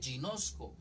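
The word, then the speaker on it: γινώσκω: la tengo ahí anótela griego 1097 se lee ginosko ginosco se escribe con g y nozco conozco es conocer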